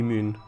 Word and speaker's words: Mün: i don't know it's a lot of people pronounce pronounce it man but the but that might just be because they don't know how to pronounce umlauts so i guess it would it would be moon uh yeah a lot